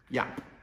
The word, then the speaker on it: Jaap: I met up with Jaap at his liveaboard boat, and then we went